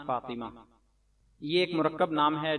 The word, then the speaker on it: فاطمہ: ما نون ساکن ایمان، فا الف زبر فا طا زیر طی میم ہا زبر مہ فاطمہ، ایمان فاطمہ۔ کچھ لوگ